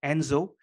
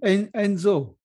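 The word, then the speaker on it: Ensō: This circle is called Enzo.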